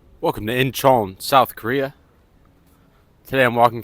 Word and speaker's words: Incheon: Again, that's Incheon, South Korea. Pronounced Incheon.